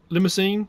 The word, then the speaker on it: Limousin: Limousine or Limousin, depending on how you say it.